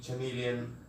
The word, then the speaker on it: chameleon: So first, be careful about the pronunciation, because people use different pronunciations like chameleon, chameleon. So the correct one is chameleon, chameleon.